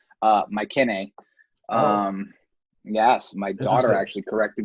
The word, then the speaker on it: Mycenae: The American translation is Mycenae, but in Greek it's actually Mycenae.